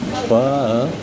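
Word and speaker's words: phở: And we're probably about to have the best pho. Pho. That's how we learned to pronounce it last night.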